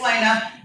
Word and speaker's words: Lena: No, you said right. It's Lena.